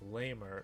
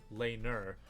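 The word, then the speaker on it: Laimer: with public angle and I believe it's lamer no laner at right-back now the reason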